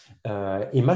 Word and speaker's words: E2MA: Emma, je ne sais pas si tu en as déjà entendu parler, donc ça s'écrit E2MA.